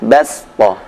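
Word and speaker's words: بَسْطَةً: Saya sebutkan 2 contoh huruf shad yang lebih baik dibaca dengan suara sin, yaitu di Al-Baqarah 245, ayatnya berbunyi Wallahu yaqbidu wa yabsutu wa ilaihi turja'un. Yang kedua Al-A'raf ayat 69, ayatnya berbunyi Wadhkuru idh ja'alakum khulafa'a min ba'di qaumi Nuhin wa zadakum fil khalqi bastah. Jadi yabsutu dibaca yabsutu, bastah dibaca bastah.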